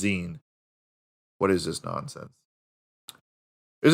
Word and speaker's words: zine: it wrong because i'm an idiot it's a zine it's spelled sein but it's pronounced zine what is this nonsense is a small circulation